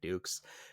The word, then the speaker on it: Dux: Ducks.